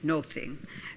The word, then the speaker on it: nothing: notice of listening to nothing was pronounced with a long o nothing and a th was much more like a t as in the Modern